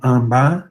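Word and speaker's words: आंबा: Na verdade, pela grafia, a gente tem aqui um A nasal, né? Mas na pronúncia a gente tem realmente o M, e aí o A acaba se nasalizando, tá?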